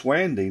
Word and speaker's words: Wandy: Wendy, you have an appropriate, it's Wandy, not Wendy.